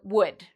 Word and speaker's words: would: So afterwards, you don't need to worry about this L. It's silent. So we say would, should, could.